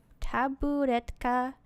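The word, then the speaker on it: табуретка: How do you pronounce that? Taburetka.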